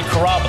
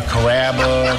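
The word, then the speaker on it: Carrabba: it's a r name growing up people always had a hard time pronouncing my name people Chom it up pretty good you know Kaba kababa it's a really easy name to pronounce it's Kaba come to kabas for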